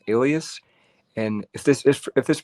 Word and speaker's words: Aelius: The word Aelia, it's A-E-L-I-A, is derived from the emperor's family name, Aelius. And if this is pronounced this way, Capitolina refers to the cult of the Capitoline triad, Jupiter, Juno, and Minerva.